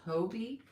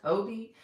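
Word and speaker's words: Hobbii: said hobby last week, I believe it's pronounced hobby, which is kind of different because whenever there are two double consonants after a vowel in English, it's usually pronounced with a short O, but obviously this is a Dutch company, it's not English, so I believe it is pronounced hobby.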